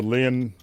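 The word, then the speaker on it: Linné: lin the lin lin l i n e with the little uh uh mark above it. What? So that adds an extra syllable I believe. Right. the Lynn.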